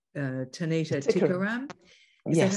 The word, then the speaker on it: Tanita: to work with a um a singer called tanita uh tanita is that how you pronounce it that's right yeah that's right and